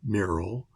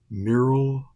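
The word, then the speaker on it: Myril: to pronounce this because I want to say Merrell Merrill Hodge like the football player but it's m-y-r-i-l so I'll say mural Hogue h-o-a-g and mural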